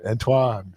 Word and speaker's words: Antoine: Yes, I usually say it's French. It's French. Yeah. Antoine.